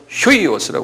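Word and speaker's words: huios: 요건 휴이오스라고 그랬어요. 휴이오스라는 건, 요건, 이거 유인데, 독일 말처럼 아포스트로피에처럼 이렇게 탁, 이런 식으로 해놓으면 휴 발음이에요. 독일 말과 비슷해요. 그래서 휴이오스. 그래.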